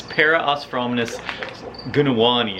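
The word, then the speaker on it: Parosphromenus gunawani: had these in the store and this is para osfromis gunawani is how you say that and they're from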